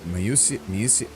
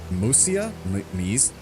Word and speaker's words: Mysia: Okay, atop a wooded mountain in Mysia. They keep pronouncing this weird in every dialogue. It's like Musia? It's not just Mysia. Like, they don't pronounce it like that.